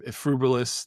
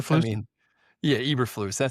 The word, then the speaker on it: Eberflus: The other one that was not shocking was, I can't even say his name, Frubilis, the guy that sucked in Chicago and he sucked at Dallas as the defensive coordinator. Eberflus.